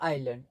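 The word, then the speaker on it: island: They found a treasure on द आइलैंड। अब यहां पर एस हमारा साइलेंट होता है। आइलैंड इसको बोलते हैं।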